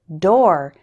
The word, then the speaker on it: door: there's one big exception the word door is pronounced like store and four-door error number